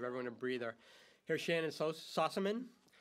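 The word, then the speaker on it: Sossamon: Here's Shannon Sossaman, who I always mispronounce her name even to her, so she'll forgive me, but I did say it right, Sossaman.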